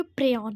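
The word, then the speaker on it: prion: सही उच्चारण करें तो ये प्रयन है।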